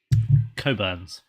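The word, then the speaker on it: Cockburn's: __ ] Burns now I know it's not pronounced that I'm going to keep saying it it's pronounced H what is it David coburns bull is it it's c o c k b u r NS one word cockburns and for those of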